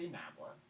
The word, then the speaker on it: nabla: This operator is called del, and the symbol is called nabla. So this is a nabla, and it means, but we pronounce it del.